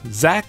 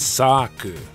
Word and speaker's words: Xak: note about the title Zach is probably not the intended pronunciation the Katakana actually says Sak I often jokingly refer